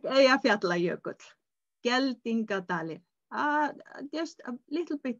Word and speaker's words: Eyjafjallajökull: It was the eruption in Eyjafjallajökull.